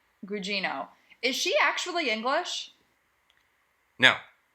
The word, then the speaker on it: Gugino: Carla, how do you pronounce her last name? Gugino.